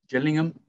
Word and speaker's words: Gillingham: name thomas yeah um started his career at gillingham or gillingham i always say wrong i'm going to go for gillingham this uh jillian i believe jillian is the correct pronunciation you ever have those teams um i